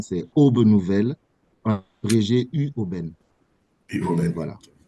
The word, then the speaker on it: Aube Nouvelle: Donc, voilà, c'est pour corriger la prononciation, c'est Aube Nouvelle, abrégé UOBEN.